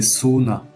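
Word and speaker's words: सोना: Dormir, c'est sona. Attention, le O doit être prononcé longuement parce que sinon il y a un autre mot qui signifie l'or de l'or quoi.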